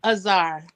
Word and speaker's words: Azar: Azar. Azar. Okay, that's all I need. That's I've pretty. been pronouncing the last name correctly.